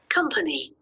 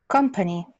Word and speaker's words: company: So you're saying it with an O sound, but it's an A. It's more like an A. The schwa sound is closer to the A than the O.